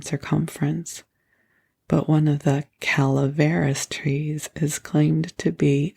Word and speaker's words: Calaveras: I do believe it is Calaveras, and I have been mispronouncing it, so if that annoys you, I am so sorry.